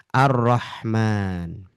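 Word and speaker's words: الرحمن: Karena bunyi di sini roknya, lamnya ini tersamarkan dengan ro yang bertasdid. Tersamarkan. Jadi tidak dibaca jelas. Langsung saja masuk pada ro bertasdid. Itulah sebabnya kenapa ro bertasdid atau lam di sini dia nggak dibaca.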